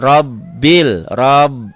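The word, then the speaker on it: رب: Ini R itu kalau berbaris fathah ganti dengan O. Jadi alhamdulillahi rob. B-nya 2, robbil, robbi, B-nya ini, robbil, bil ke sini.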